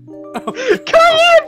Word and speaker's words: Cayenne: Cayenne pronounced like the pepper!